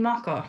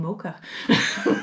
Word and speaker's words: mocha: Okay, because people will be like, oh, you mean maca? And it's like, no, I mean mocha.